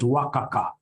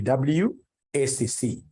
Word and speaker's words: WACC: You'll get somebody, instead of pronouncing this thing professionally as WACC, you'll get somebody calling it Wakaka. No. That's very unprofessional. It's supposed to be WACC.